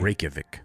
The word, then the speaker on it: Reykjavik: give it to me Reykjavik Reykjavik yeah Reykjavik I'm sure it's still not perfect but that's r-e-y-k-j-a-v-i-k Reykjavik yeah Metropolitan along those